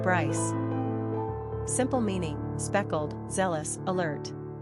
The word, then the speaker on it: Bryce: Number of syllables, 1. Ranking popularity, 117. Pronunciation, Brice.